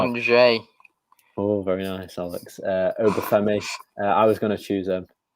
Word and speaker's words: Angers: 8 Nuri, of course, permanent signing from Angers. That's probably not how you say it, the French team, though. Angers.